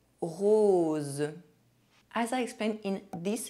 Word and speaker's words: rose: The letter O is pronounced O when followed by a Z sound. Z, like the little bee. Une chose. Rose.